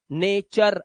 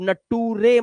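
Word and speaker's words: nature: जब किसी वर्ड के लास्ट में यू आर इ आए तो यू आर ई को अर से पढ़ना। अर जैसे नेचर अब नटूरे मत कर नटू रे फटूरे कलटूरे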